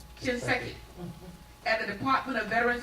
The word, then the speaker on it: Shinseki: She previously served as a White House Fellow in the Office of Secretary Eric, and how do you pronounce his last name? Shinseki, at the Department of Veterans Affairs, and a